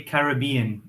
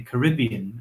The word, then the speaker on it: Caribbean: I mean, just naturally, I say Caribbean for all cases, but Wow. for sure, it's really common in America to say Caribbean. I've heard it a lot from Americans, but Yeah, we definitely say in Caribbean.